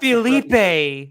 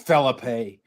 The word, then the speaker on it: Felipe: you're not a white Philipe like like you Latinos say it right Filipe yeah Philipe it's Felipe it's phip you like tacos in